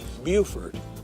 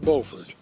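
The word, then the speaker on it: Beaufort: installation in South Carolina Buford not bord South Carolina Lewisburg Tennessee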